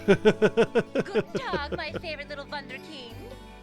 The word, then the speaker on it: Wunderkind: Good dog, my favorite little wunderkind. Wonderkind.